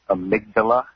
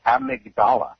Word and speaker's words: amygdala: I know she's a nurse, but it's pronounced amygdala in the brain. What do I am? Also, Robin, what? I didn't study the brain. No, you said a part of the brain. You said amygdala.